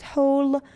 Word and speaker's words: whole: Whole, again, W is silent.